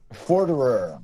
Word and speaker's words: Forderer: Forderer.